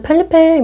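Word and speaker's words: Felipe: 하면서 살고 있는 펠리페입니다 검색을 해보면 펠리푸라고도 하고 뭐 펠리페라고도 하는데 영화에서는 펠리페 뭐 이렇게 부르더라구요 뭐 외국 발음이라서 나라마다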